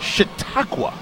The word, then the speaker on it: Chautauqua: Now, they used to be Erie, but they're pronounced, how do you say it, John? What is Chautauqua. Chautauqua.